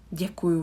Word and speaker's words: Děkuju: But here you can see that the hook is on the yeah, on the e, but the pronunciation, it sounds like there is not the, but it's j and e that follows. It's just a matter of writing that we put the hook on e rather than on the d. But the pronunciation, j and e, je.